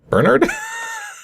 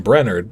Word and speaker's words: Bernard: Although, I know how to pronounce Bernard? I looked at that initially and I was thinking Brennard, but that's not spelled Brennard. That's like burn hard.